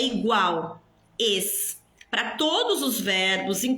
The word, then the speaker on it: es: Olha a pronúncia, pessoal, não é es, es. A letra E em espanhol, ela é fechada, é E, não é é. Não existe essa fonética é. É sempre E.